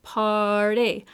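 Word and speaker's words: Paaaarty: I reach for this one, which is Party, all the time. And I say it that way because that's actually the way it's spelled, P-A-A-A-A-R-T-Y.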